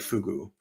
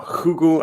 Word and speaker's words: fugu: So Fugu, or Hugu, I believe is pronounced, is actually Japanese for the pufferfish or the blowfish.